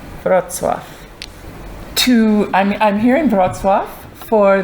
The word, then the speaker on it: Wrocław: I have to not remember how it's spelled. If I try to look at the word, then it's like totally confusing. But if I just remember the sounds, Wrocław.